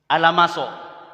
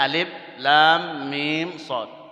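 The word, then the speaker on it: المص: Dibuka awal surat Al-A'raf. Alamaso. Padahal bacanya alif lam mim shad.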